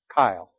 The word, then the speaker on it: chyle: Instead of just calling it lymph, they can call it chyle. C-H-Y-L-E. A little bit different than most guys with that name.